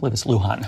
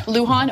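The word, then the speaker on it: Luján: and is that how you say his name Luhan Luhan okay uh Ben Ray Luhan and the powerful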